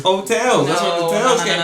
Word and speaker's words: Heaux Tales: Hotels. What? Hotels. Hoax. The X is silent, though. No, what if I wanted to make it not silent? No, but anyway. The X is silent, dog. It's hotels.